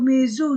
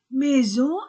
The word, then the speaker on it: maison: C'est une belle maison, A-I-E, S entre deux voyelles, Z, O-N-O.